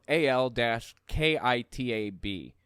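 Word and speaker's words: al-Kitab: for it was ah L A l- Ki t a b all alkitab I think is how it's pronounced maybe peoples of the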